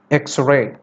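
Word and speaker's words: X-ray: എക്സ്റേ. എക്സ്റേയുടെ starting X ആണ്. ഇറ്റ്സ് A consonant letter ആണ്. പക്ഷെ ഉച്ചാരണം നമ്മൾ പ്രൊഡ്യൂസ് ചെയ്യുന്ന സൗണ്ട് എന്ന് പറയുന്നത് എ എന്നാണ്. എക്സ്റേ. ആൻ എക്സ്റേ.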